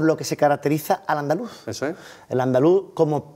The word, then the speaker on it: andaluz: sobre la defensa del andaluz. ¿El andaluz? ¿Terminado con acento en la U? Andaluz. Eso es. Sin Z. Eso es.